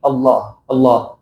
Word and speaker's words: Allah: Do not make it a very extra or abnormal type of pronunciation. It has to be in a normal way. It shouldn't be very, very heavy pronunciation. Allah will become something else. But it is like in a relatively heavy Allah.